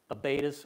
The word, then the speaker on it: abatis: They conducted, depending on your pronunciation, Abatis or Abati.